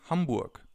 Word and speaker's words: Hamburg: you could say is Hamburg. Is Hamburg. I'm from Hamburg. As you can already see or hear, some cities have a different pronunciation in German than they have in other languages.